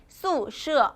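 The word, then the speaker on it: 宿舍: 宿舍, 기숙사는 宿舍 라고 발음을 합니다.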